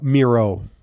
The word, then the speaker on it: Mierau: pronounce your last name uh Miro Miro rhymes with hero Reggie how did you pronounce it Merle yeah so it's not